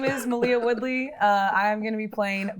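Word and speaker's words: Maleah Woodley: sorry yeah all right malia my name is malia woodley uh i'm gonna be playing bahati and uh you can also find me on instagram at malia woodley um i don't know if my name is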